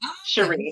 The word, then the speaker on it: Sheree: It's French. It's pronounced Sher and then Ree. So Sheree.